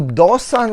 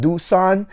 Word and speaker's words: Do Son: than the edp so dosan right here dosan is really the right way to pronounce it however if you want to call it doosan then that's up to you that's okay all